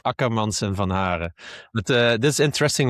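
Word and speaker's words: Ackermans & van Haaren: I definitely said that name wrong because I can see you laughing. I think it's called Akkermans and Van Haren.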